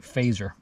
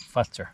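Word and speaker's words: Fazer: finished brand called Carl it looks like phaser but as you pronounce it faster call farts faster and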